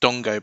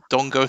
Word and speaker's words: Dango: from of break shame Dongo uh couldn't finish it is spelled Dango but is pronounced Dongo Believe It or Not Dongo Tara and um somebody